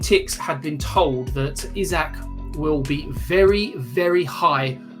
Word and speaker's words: Isak: summer and that regards Alexander isak or Isaac depending on how you want to pronounce it now team news and ticks had been told that isach will be very very